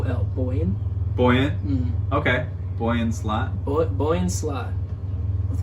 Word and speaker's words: Boyan Slat: it's no no help Boyan buoyant mmm okay Boyan slat bullet boy in slot with one a and